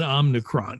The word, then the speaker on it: Omicron: we pronounce it, it's there's no N in Omicron. It's Omicron, no N.